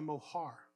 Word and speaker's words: mohar: So the next part of this thing, of this process, is called the mohar, or morham. That's how you would say it in Hebrew.